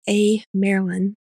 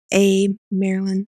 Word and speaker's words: Amyrlin: Just think of it as Amyrlin, because it's Merlin, the wizard, Amyrlin.